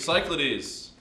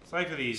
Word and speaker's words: Cyclades: How do you pronounce this? Somebody that speaks Greek. Cyclades. Cyclades.